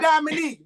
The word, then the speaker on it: Diamonique: Diamonique.